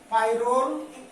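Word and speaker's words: pyrrole: এটাও একটা হেটেরোসাইক্লিক যৌগ, পাইরোল বা পিরোল বলি আমরা।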